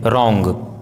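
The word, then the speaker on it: wrong: यदि किसी वर्ड में WR साथ में हो तो W का उच्चारण साइलेंट होता है, जैसे रॉन्ग, right, retain, wrist, रिंग, wrinkle, Regal, wrestler, wrapper.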